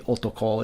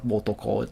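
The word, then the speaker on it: おとこ: Wo has been changed to o. So in modern Japanese, you're not going to see them like this. It's going to be onna, it's going to be otoko, it's going to be otome. It's not going to be wotome, wonna, or wotoko.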